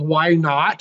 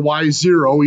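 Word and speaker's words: y₀: You can think of it as the technical pronunciation is y naught or y0, either one works.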